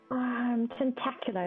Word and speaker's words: Tentacula: Tentacular is fine. Tentacula. Like spectacular.